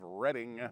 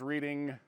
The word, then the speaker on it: Reading: actually kind of part of the City of Reading Pennsylvania now before you jump all over me in the comments let me say I always thought it was reading what I have read says that the pronunciation